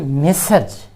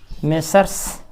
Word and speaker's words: Messrs: Plural माना जाता है मेसर्ज। मेसर्ज, MESSRS, MESSRS, इसका उच्चारण हम कर सकते हैं मेसर्स या मेसर्ज। अब चूंकि आर के बाद कॉन्सोनेंट एस है, इसलिए इसको हम साइलेंट भी कर सकते हैं।